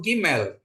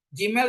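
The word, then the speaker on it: גימל: seperti itu ya terus untuk Gmail Gmail seperti anda melafalkan gajah untuk G ya gajah sedangkan dalet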